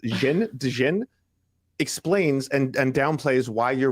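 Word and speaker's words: Dhejne: Cecilia, her last name is pronounced Dejen.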